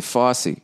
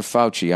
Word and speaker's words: Fauci: um all right nia how do you present pronounce f-a-u-c-i i was gonna say fosse who's dr fauci i know that name that's not the supreme court person who just died ah fauci you gotta stay in shape